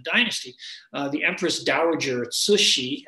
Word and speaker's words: Cixi: rest of the dynasty the Empress Dowager at sushi it's a hard name to pronounce but that's how Cixi is pronounced sushi her Manchu name was yellow Nala last slide